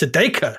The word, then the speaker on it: Sedaka: You've got the pronunciation. It's Sedaka. Sedaka?